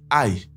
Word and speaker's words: 爱: dernier détail c'est que ici le mot a est au 4e ton donc c'est vrai que ça se prononce de la même manière que ce mot a en français mais vous devez vraiment faire attention et garder le fait que le chinois est une langue tonale à l'esprit donc le mot a